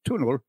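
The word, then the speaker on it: túnel: tunnel which is spelled t n l and pronounced tunel um this goes on the bypass road around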